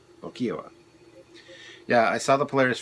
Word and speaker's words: Lokiowa: Lo-ki-a-wa. Lokiowa.